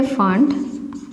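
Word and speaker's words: Pfund: Third थे bastion, fourth थे bracket, fifth थे फंड, पी साइलेंट, एनसीईआरटी में फंड तक है, अभी सिक्स्थ आ गया है हम्फरी, बहुत सारा लाइंस बना था, ठीक है ना।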